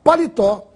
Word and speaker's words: paletó: uma palavra para oxítona ea palavra paletó tem a sílaba mais forte na última totó e é portanto